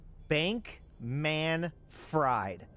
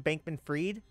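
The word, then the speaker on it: Bankman-Fried: name is literally Sam Bank man fried I don't know why everybody says Sam bankman freed cuz like that's not how it's spelled it's spelled Sam bank man fried I mean what is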